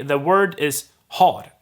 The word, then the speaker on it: har: on its own but if i say har for instance to ha or i i have then i wouldn't drop the h when just telling you the word stand alone however in a sentence the h will most likely disappear so you have your